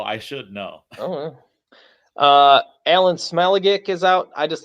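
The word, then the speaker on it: Smailagić: Alan Smeligic is out. I just like saying his name. What is he smelling? Well, it's Smale-a-gick. So Smale-a-gick.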